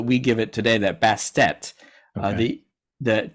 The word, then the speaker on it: Bastet: So, name-wise, originally in ancient Egyptian, her name was probably Ubast or Bast, without the extra syllable at the end.